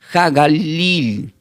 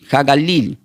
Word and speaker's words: HaGalil: significado del griego, este se pronuncia como eh yo lo voy a deletear, Hagalil. Hagalil. Sí está la H, la A, la G de gato. A L I L.